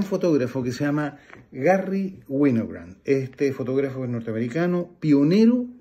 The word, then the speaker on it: Winogrand: Entonces, Garry Winogrand, que se escribe Garry con dos R y una Y, y Winogrand como vino, pero con W, y Grand como grande, pero sin E.